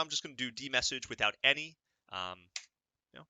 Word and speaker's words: dmesg: we're going to do man D message to get some background on it it's spelled dmesg and hit enter right